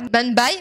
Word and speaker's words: Mumbai: Ce dernier a tellement été signalé à Mumbai, c'est comme ça que ça se prononce, à Lagos et à Mexico.